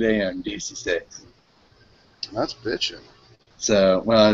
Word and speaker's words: dieciséis: they're going and we're live buenos dias episode dac6 16.